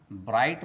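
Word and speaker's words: bright: दोस्तों, यहाँ भी ध्यान देने वाली बात यह है कि I के बाद GH लेटर आया है, तो यहाँ I के बाद साइलेंट लेटर GH लिख लेते हैं।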